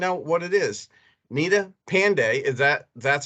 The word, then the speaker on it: Pande: trying to find out what it is nita pandey is that that's how it's pronounced nina that is correct mark great so